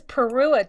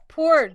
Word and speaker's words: Pu'er: This is Perua tea. Did I say it right? Pu'er tea.